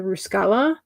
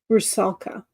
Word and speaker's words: Rusalka: I could not find images for like the Ruskala. I think that's how you say it. Is that how you say it? Ruskala? Rusalka.